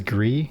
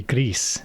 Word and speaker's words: Gris: great art is Gris which I always thought it was Gree like French Gree um gray but apparently it's Gris actually. Let me check that Gris game pronunciation. Um how do you pronounce the name? Oh, they're Spanish. It's a Spanish development studio. So if it's Spanish then it should be Greece.